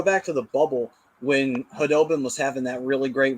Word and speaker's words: Khudobin: And then it finally came to, oh, no, it's Khudobin. That's how you properly say it.